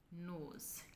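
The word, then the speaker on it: nose: ग्रू, नोज़, यहाँ पर भी दो वोवल हैं, ओ और ई, लेकिन ओ की साउंड आ रही है और ई इसमें साइलेंट है। नोज़।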